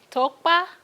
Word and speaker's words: Tokpa: My name is Miss Tokpa. The K in my name is silent. A lot of people have issues when it comes to pronouncing my last name, but the K is actually like non-existent.